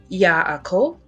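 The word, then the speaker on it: יעקב: In Hebrew, Jacob is pronounced as Yaakov, Yaakov, and Yaakov.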